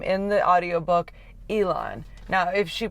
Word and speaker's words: Elon: Ellen's name correctly because May refers to her son as Elon and I have heard a couple of people purr Ilan's name differently sort of saying like Ellen Alon not Ellen like you